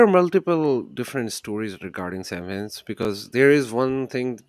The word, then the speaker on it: Samhain: It's not Samhain. It's pronounced Samhain, right?